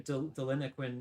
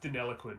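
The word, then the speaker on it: Deniliquin: Um, uh, uh, yeah, there's a booth in Delinoquin in Farah, but north. It's pronounced Delloquin, but yeah.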